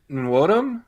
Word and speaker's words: Nwodim: Ego Nwodim. Nwodim. Okay. I think. Okay. I think the N is half silent.